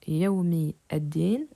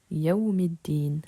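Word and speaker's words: يَوْمِ الدِّين: On ne prononce donc pas Yaoumi ad-Din, mais Yaoumiddin. Le elif de l'article ne se prononce pas à cause de la liaison, tandis que le lemme,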